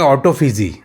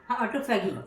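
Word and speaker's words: autophagy: करेंगे वो बात करेंगे ऑटोफिजी ऑटोफेगी हां ऑटोफेगी जैसे ऑटोफेगी भी कई प्रोनाउंस करते हैं कई लोग फजी प्रोनाउंस करते हैं क्योंकि उसका ऑटोफेगी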